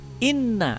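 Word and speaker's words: إِنَّ: Pada yang kedua, inna di sini lafaz inna nun tasjid ya. Nun tasjid atau nun sabdu. Cara membacanya adalah dengan berdengung. Inna.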